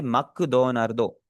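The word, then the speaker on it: マクドナルド: ऐसी काफी ज्यादा चीजें ऐसी होती हैं कि जैसे मैकडोनल्ड है ना, मैकडोनल्ड डायरेक्ट बोरो किया गया है जापानीज में, उसे क्या बोलेंगे? मक दो नार्दो।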